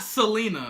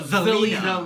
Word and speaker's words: Zelina Vega: Not Selena. No, Zelina. Zelina. Because it's originality.